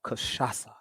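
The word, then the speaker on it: cachaça: let me see if i pronounce this right kashasa kashasa that's what they call it it's spelled c-a-c-h-a-c-a but that final c has a little squiggle on the bottom like a pigtail and it's called kashasa and uh it's a brazilian beverage brazilian spirit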